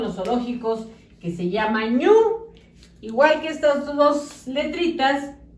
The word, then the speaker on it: ñu: zoológicos, que se llama ñu. Igual que estas dos letritas, pero lleva acento en la U y así se llama el animal.